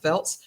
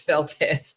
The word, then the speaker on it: Feltes: her name is FZ it looks like Felts but it's Feltz and all this time